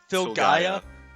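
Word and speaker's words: Filgaia: How do you pronounce that? Phil Gaia. Yeah, cuz without the Phil, it's just Gaia.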